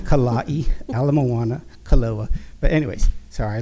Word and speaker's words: Ala Moana: the way I never heard the street names pronounced wrong here so much it's Kawaii Ala Moana kaloa but anyways sorry I lived in Hawaii